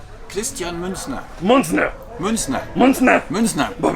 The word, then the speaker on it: Christian Münzner: First of all, my audience is always offended by how pronounce German names. Could you please say your names? Christian Münzner. Münzner. Münzner. Münzner. Münzner. Pues vale verga. Christian Münzner.